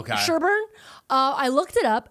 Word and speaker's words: Sherborn: I think they pronounced that Sherburn. It sounded like Sherbet when they were saying it. Okay. Sherburn.